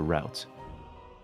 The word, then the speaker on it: route: Fortuna and Martine root do you guys say root or route root both are correct they both are correct it's just a matter of preference or pronunciation all right due to